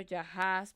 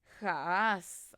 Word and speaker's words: Jahaz: La espada te perseguirá desde el clamor de Hezbón hasta Eleale y hasta, yo lo pronuncio Jahaz, pero es Jaaz.